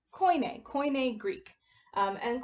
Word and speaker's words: Koine: of the most important which is this is pronounced koine koine greek and koini greek starts to form in the the late